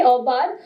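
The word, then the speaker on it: aubade: a song called U I'm not sure whether I'm pronouncing it right obad right yes okay obad which is a morning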